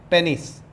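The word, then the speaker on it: penis: पूरा, इसको बोलते हैं पेनिस। कुछ लोग पीनस भी प्रोनाउंस करते हैं। यू can pronounce anything which suit you, that can बी पेनिस और पीनस।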